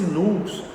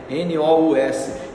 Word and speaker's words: nous: própria alma, nós poderíamos dizer, que é esse nous que se escreve, né? N-O-U-S, esse nous, né?